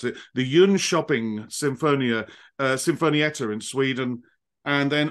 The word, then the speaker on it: Jönköping: I had to look this name up and to learn how to pronounce it, the Jönköping Sinfonietta in Sweden, and then also an orchestra in Athens.